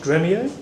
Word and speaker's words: Dremio: So Dremio, it's pronounced Dremio, no emphasis, no long E, like dress. Me-o, this is our mascot.